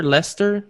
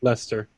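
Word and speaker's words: Leicester: an idiot in what light ler leester is a city in Lester Lester in England in the count in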